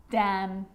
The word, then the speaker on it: damn: It's important because when I'm explaining the silent letter N, it actually is silent when it's next to M. Confusing, huh? Let's look at some examples. Damn.